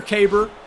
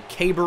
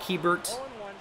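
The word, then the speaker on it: Keibert: see the fastball in the same spot later caber that's how you pronounce it by the way caber Ruiz they're probably K Band right but it it's not kiebert or cabert it's like it rhymes with glabor and that's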